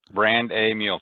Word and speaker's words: Brandamule: Brandamule? Yep. Brand a mule. So Brandamule. That's correct.